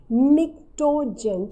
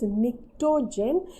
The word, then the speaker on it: pnictogen: It is also known as pnictogen. Children, P is silent, so it is PNICTO. It is P silent, so the name is pnictogen.